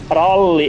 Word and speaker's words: ralli: So, this is what we call ralli englanti.